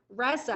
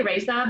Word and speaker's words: Resa: Resa, yes. am I saying it right? Journey. Well, I mean, I say Resa, but in Swedish it's like Resa or something like that.